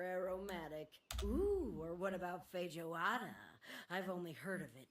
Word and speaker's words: feijoada: Ooh, or what about feijoada? I've only heard of it, but it's supposed to be this rich bean stew. Won't think the J would be pronounced. I think it's feijoada, actually.